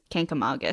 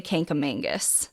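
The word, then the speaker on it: Kancamagus: N into the word the correct way to say it is kink Aus Canam Magus Canam Magus we're learning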